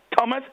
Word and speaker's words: Thomas: the t is capital the H is silent that's why we have the river temps that's why we have Thailand that's why we have Theresa that's why we have theopus that's why have Thomas Etc the H is